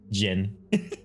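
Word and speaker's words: Ghen: Gen, yeah, it's spelled G-H-E-N. Gin.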